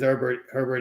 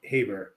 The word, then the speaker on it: Herbert: what they want, which is, as good as Herbert is. I don't know why I keep wanting to say Haber.